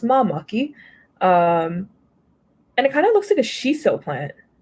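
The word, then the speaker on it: māmaki: So it's pronounced mamaki.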